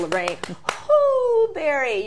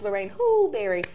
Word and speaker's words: Lorraine Hooberry: your hands together for Lorraine Hooberry. You have to say it like that. It's Lorraine Hooberry.